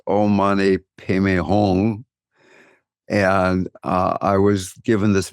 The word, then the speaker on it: Om Mani Padme Hum: It's spelled Om Mani Padme Hum, but it's pronounced Om Mani Padme Hum.